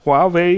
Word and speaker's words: Huawei: Oder wie spricht man es aus nochmal? Huawei. Huawei.